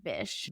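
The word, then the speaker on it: Bysshe: And yes, it's pronounced Bish, but it spelled B Y SS H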